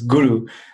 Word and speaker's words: guru: In Sanskrit, the word guru, like everyone's heard the word guru, which is pronounced totally incorrect. It's guru, but it's basically saying in the root meaning of the word, somebody who points the way.